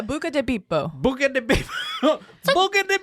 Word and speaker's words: Buca di Beppo: Bibbidi bobbidi boo. Yeah, I was gonna say. Motherfucker. That is not how you say it. It's Italian. Yeah, Buca di Beppo.